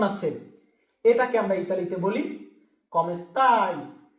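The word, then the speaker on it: come sta: তুমি আপনি কেমন আছেন এটাকে আমরা ইতালিতে বলি কমেস্তা উচ্চারণটা সঠিক ভাবে করবেন বলুন তো কি কমেস্তা কমেস্তা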